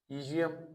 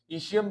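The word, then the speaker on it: ischium: आप अगर प्रोनाउंसिएशन इसकी, कुछ लोग ईजियम भी पढ़ते हैं, ईशियम भी है, स्पेनिश इंग्लिश में ईजियम है, तो आपकी मर्जी है, बस स्पेलिंग आप अच्छी तरह तैयार कर लें, इलियम, ईशियम एंड प्यूबिस।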